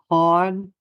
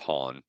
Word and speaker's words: Han: It's pronounced Han. Yeah. Following his expulsion. Hey, Lando calls him Han. It's Han.